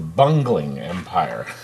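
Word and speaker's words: Bungeling Empire: It's called the Bungling Empire. But it's spelled a little bit differently, but that's how it's pronounced.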